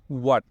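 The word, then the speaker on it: what: আমরা ধরেন কথার কথা একটা উদাহরণ দিয়ে আমরা হয়ার বলি, হোয়াট বলি, আসলে এটা হওয়া উচ্চারণ কখনোই হয় না। এটা হলো ওয়াট, তারপর হচ্ছে ওয়্যার।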